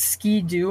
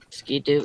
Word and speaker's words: Ski-Doo: they're buying it yeah we pronounce it ski-doo in the south is that wrong no it's ski like I'm gonna ski down a hill do ski I don't